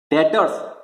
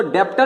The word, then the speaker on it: debtor: डेटर्स, पहली बात तो स्पेलिंग क्या है, DEBTORS, तो हम इसको डेप्टर नहीं बोलते, इसको बोलते हैं डेटर, बी साइलेंट है, ठीक है।